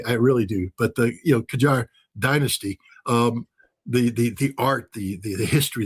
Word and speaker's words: Qajar: In Tehran, we're blowing up some of the old Qajar. And again, I might be mispronouncing that.